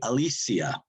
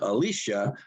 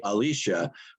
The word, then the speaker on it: Alesia: Well, we have a system where most of my family say Alesia. Oh, really? Oh. Yes. But my parents always said Alicia, so that's why I say Alicia, but everybody else says Alesia.